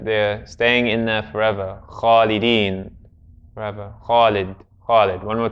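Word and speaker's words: خالد: But if we were to pronounce it completely correctly, that a actually comes after the kha. So to say it correctly would be Khalid. Everyone say after me, Khalid.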